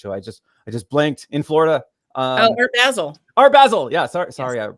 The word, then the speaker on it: Basel: Basil is Basel. Oh, so like basil, but with an A.